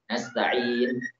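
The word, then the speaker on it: نستعين: Contoh yang kurang, kita waqaf ya. Nasta'in, in, ya. Ini termasuk kurang. In. Yang tepat adalah nasta'in.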